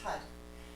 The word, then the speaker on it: Har: very simple it's just Hut it's spelled har but you roll the R so it sounds more like a D and as you say